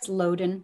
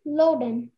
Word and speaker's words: loden: For the festival, he wore his loden jacket.